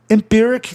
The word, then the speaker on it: empiric: Empiric está no sistema especial de paroxítonos em palavras que terminam em IC. Aí não há razão de você alterar o som, de você manter o som I, né?